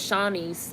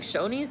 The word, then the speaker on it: Shoney's: same company even though for the longest time I thought it was Shaunie's until I heard it said out loud and Talladega Nights I was like Shoney's that's how you pronounce that I'm not vegan I'm